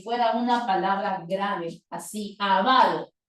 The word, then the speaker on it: avaro: O como el caso de la palabra ávaro, que uno podría escribirla como esdrújula y decir ávaro y colocar tilde en la primera A, como también podríamos decir avaro y pronunciarlo como una grave. Pero hoy nos dice no. La palabra que no tiene doble tildación, si quieres tilde, si quieres no. Ahora solo vas a decir avaro, como si fuera una palabra grave, así, avaro.